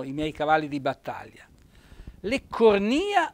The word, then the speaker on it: leccornia: vocabolario e andate a cercare la parola leccornia voi vedete che c'è un bell'accento tonico sulla i edile o edile edil